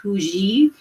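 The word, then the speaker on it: hygge: It looks like huggy, but it's supposed to be pronounced huji.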